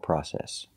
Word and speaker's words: process: a difficult process so remember the British pronunciation is process in England they say process well the a long process and in America we don't we say process that will be a